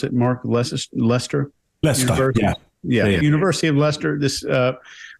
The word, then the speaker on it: Leicester: And there is a professor at, I think it's, how do you pronounce it, Mark? Leicester? Leicester, Yeah, University of Leicester.